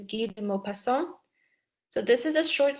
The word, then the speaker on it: Guy de Maupassant: So in this case, you would say his name, Guy de Maupassant. It looks like Guy. That's how we would say it in English, but the French pronunciation is Guy de Maupassant.